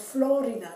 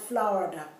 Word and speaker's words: Florida: And the O in Florida would be pronounced Florida, not Florida.